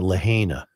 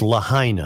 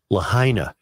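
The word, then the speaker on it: Lahaina: been pronouncing lah wrong yeah it's I've been pronouncing it Lena it's lahina I've gotten many uh emails to that uh and and I uh I will now pronounce it correctly lahina was the town destroyed in you also Islands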